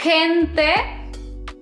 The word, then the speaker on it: gente: Ahora, cuando a la G le siguen vocales como e o i, el sonido cambia y se pronuncia como una J. En este caso, estas dos palabras se pronunciarían gente y girasol.